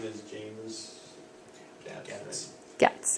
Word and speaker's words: Gatz: Cats, yeah. And Rhymes with he's cats.